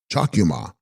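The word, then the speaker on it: Chags-kyu-ma: Text Chags Cuma pronounced chakuma Sanskrit anusha she holding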